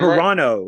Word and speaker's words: Carano: Scorched Earth with Gina Carano. I can never pronounce her last name Carano, right.